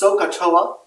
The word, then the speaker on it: SOHCAHTOA: in the next several days really now it's pronounced sohcahtoa and thinking back earlier to see the cost